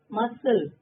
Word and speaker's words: muscle: काम, मसल, almond, design, doubt, nil, answer, knife, whom, autumn. Now see, look at the letters which is silent. काम का L silent है student. Muscle C silent.